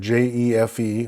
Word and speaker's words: jefe: The letter J in English, known as jota in Spanish, ironically enough, makes the H sound, as in the word J-E-F-E, which is jefe, jefe.